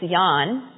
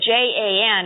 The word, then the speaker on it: Jan: he was a kid his real name was Yan but when he came to this country they looked at Jan and they said well we know how to pronounce that that's Jan so everybody calls him Jen now but it was Jan